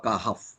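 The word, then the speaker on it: كهف: তো ম্যাক্সিমাম লোক কি পড়ে কি কাহাফ, হার উপরে একটা কাহাফ জবর দিয়ে আসে, কিন্তু কিন্তু এটা ছাড়া কোনো উপায়ও নাই। কাহাফ আসলে কা হর উপরে কিন্তু আছে জজম, ফার উপরে জজম দিয়ে থামতে হবে। সূরাতুল কাহফ।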